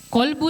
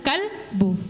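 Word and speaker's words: قلب: Ada lagi kata qolbu dengan kalbu. QBU artinya kalbu artinya anjing. Nah, kalau salah membaca kalian salah artinya berarti salah doanya kepada Allah.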